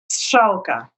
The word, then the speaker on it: Strzalka: How do you pronounce it? Strzalka.